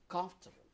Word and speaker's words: comfortable: comfortable comfortable good yes the the stress is on the first uh sullivan comfortable yes comfortable comfortable yes look here or listen come come so here the first syllable is the strongest one comfortable comfortable good thank